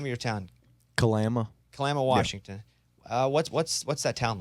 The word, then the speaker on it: Kalama: Kalama.